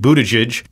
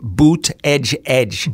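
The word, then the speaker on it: Buttigieg: close to transportation secretary pete budageage excuse me donald trump pronounces it boot edge edge boot edge okay well thank you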